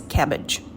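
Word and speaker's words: CABG: coronary artery bypass surgery cabs it's pronounced as cabbage the surgical procedure is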